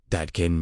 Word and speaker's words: Dadkein: Instead, He spoke of Dadkein, pronounced Dadkein, meaning pure, transparent, cleansed of distortion.